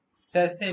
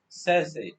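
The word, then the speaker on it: sachet: आजकल हर चीजें छोटे छोटे से पैकेटों में आती हैं, जिसको छोटा पैकेट, उसको इंग्लिश में सैसे बोलते हैं, सैसे।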